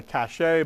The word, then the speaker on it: cache: And we do pronounce it cache in CS. Alternatively, you could call it a cache, but usually it's a cache of weapons or something like that.